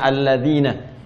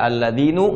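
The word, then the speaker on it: الَّذِينَ: tetap ya fathah begini karena itu dibacanya alladina kita tidak baca alladinu Enggak ada alladini selalu na mabni tetap dalam harakat ini perhatikan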